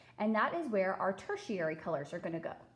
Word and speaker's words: tertiary: our tertiary colors okay say it with me tertiary right it kind of has that sh sound to it but it's spelled like this so t e r t i a r y that's tertiary and we get our